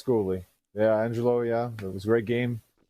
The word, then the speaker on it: Goulet: No, it's pronounced Goulet.